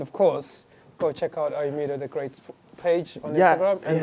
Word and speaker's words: Ayomide: So you pronounce it midday. So even if you don't know how to pronounce that midday, it's like Ayomide.